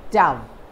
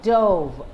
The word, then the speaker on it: dove: the two different pronunciation as a noun it is dove which is a bird as a verb the pronunciation is dove the past tense of